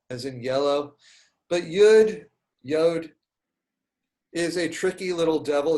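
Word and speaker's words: יוד: is the yod which you might know as yud i learned it as yud and then as an adult learning i've learned uh i learned at hebrew university ulpan that the correct pronunciation of the letter is yod and so i would think that they probably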